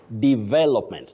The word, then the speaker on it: development: that word you say development not development the way many People innocently say it is D then V de V with a stress on that second syllable development.